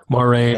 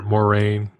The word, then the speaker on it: Moiraine: Moiraine or Moiraine.